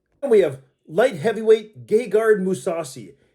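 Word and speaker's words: Gegard Mousasi: we have light heavyweight gay guard musasi gay guard musasi it is what it is man forgive him for his name is what it is that's how you pronounce it that's how all the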